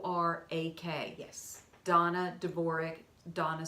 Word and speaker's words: Dvorak: us RDA and a like Dana but it's pronounced Donna de bourree DV o are a que yes Donna de Bourgh Donna spelled da na DV o are a